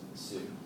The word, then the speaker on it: Shu: And the Shu would also be pronounced Su, too, which we'll get to that.